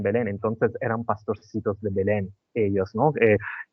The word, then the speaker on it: Belén: Entonces nos acordamos que ellos se encontraban en betleem porque todo todo pasó en en Belén no sé cómo se dice en castellano Belén Belén Belén Belén ah Belén se encontraban en